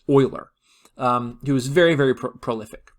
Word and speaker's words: Euler: It is not pronounced Euler; it is pronounced Euler.